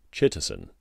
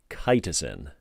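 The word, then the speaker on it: chitosan: i know i did i thought it was chitterson or chittazan or what i don't know insert wrong pronunciation here eric it is spelled c-h-i-t-o-s-a-n cytosin all right and that is derived from something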